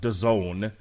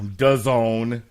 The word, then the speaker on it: DAZN: If I make it home in time, though, myself and Pat Mullen will check out DAZN. Oh, yeah. DAZN. Mm-hmm. It rhymes with calzone.